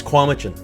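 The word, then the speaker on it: Cowichan: i've heard komichin or kwamchan kwamchin uh it's kwamuchen kwamijin this is a town you know i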